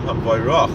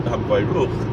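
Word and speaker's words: המבורך: It's Baruch Hashem Hamvayrach, not Hamvayruch.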